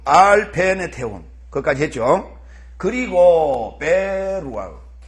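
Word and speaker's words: ברוח: 그리고 베루아흐. 다 같이 베루아흐. 왜 베루아흐라고 읽는다고 했죠? 왜 베루아흐라고 읽는다 그랬어요? 베루하 이렇게 안 읽고 베루아흐 이렇게 읽는다 그랬어요.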